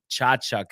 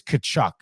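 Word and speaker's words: Tkachuk: What do you think about Prefers Burner saying that Chachuk is actually pronounced Kochuk or Kachuk, whatever? It is Kachuk.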